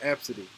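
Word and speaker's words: Abcde: name is pronounced absolutely even though it's spelled a b c d e it's pronounced absidy okay that's one of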